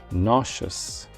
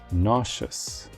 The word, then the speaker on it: nauseous: the urge to vomit while it is tempting to follow the pattern of epitome and Hyperbole and pronounce the E this word is pronounced nauseous nauseous for example the strong